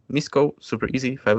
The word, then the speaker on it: Misko: my surname which is spelled like m-i-s-k-o misco super easy five letters